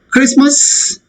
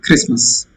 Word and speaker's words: Christmas: Christmas. T is silent. And H is silent. Christmas.